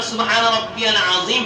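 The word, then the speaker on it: سبحان ربي العظيم: আলহামদুলিল্লাহ শুকরিয়া এই যে সুবহানা রাব্বিয়াল আজিম পড়তেছি এ উচ্চারণটা আমাকে করতে হবে কারণ একটা অক্ষর পরিবর্তনের কারণে আপনার পুরো অর্থ পরিবর্তন হয়ে যায় একটা অক্ষর পরিবর্তনের কারণে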